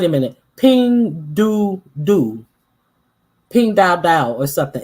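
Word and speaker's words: Pinduoduo: It's Pingduo. I ain't want to say doo doo, but it sounds like doo doo. It's written like doo doo. How I would pronounce doo doo.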